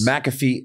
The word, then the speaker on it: McAfee: do you pronounce it it's not how it looks mafei ma m antivirus maafe antivirus McAfee Antivirus irus although it